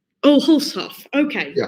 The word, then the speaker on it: Hulshof: Casper Hulshoff. Oh, Hulshoff. Okay, yeah. A little bit closer. Yeah, it's very good. It's just where you make the break.